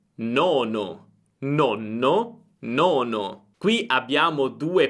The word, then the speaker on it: nono: Il mio consiglio per pronunciare bene le doppie è quello di accorciare la vocale precedente alla doppia. Per esempio, nonno, nonno, nono, nono. Senti la differenza? Nonno, molto breve, nono, più lunga.